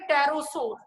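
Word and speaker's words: pterosaur: एक एग्जांपल है जो पी से स्टार्ट होती है, प्रोनाउंस टी से होती है, उसे बोलते हैं टेरोसोर।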